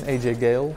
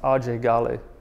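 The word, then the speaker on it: Ajay Ghale: fighting the Civil War so just his name AJ Gail gets him in trouble even to the point that his whole life he's called himself AJ Gail right but his name is actually pronounced RJ gal so immediately he's like oh even his name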